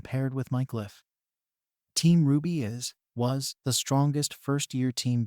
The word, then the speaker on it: RWBY: Team Ruby was the strongest first-year team back at Beacon. Weiss bragged. And it's spelled rwby if you're still writing things down.